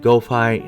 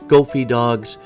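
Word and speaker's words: GOFI Dogs: I want to acknowledge right now I said it wrong the entire episode. I said goi. It's Goofy Dogs.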